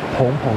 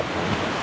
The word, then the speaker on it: 芃芃: 啵啵的，所以就是有那个叫做蓬蓬的声音，所以它不是叫范范，叫蓬蓬。